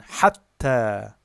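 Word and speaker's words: حَتَّى: And hatta is long plus long.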